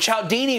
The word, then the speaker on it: Cialdini: That's how you pronounce this guy's name, Cialdini. It doesn't look at all like Cialdini, though. I think he just made up a pronunciation. Like there's not even an L in there.